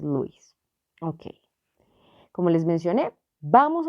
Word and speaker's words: Lewis: y la teoría de si lo leemos en castellano se pronuncia lewis pero en inglés pues es luís ok como les mencioné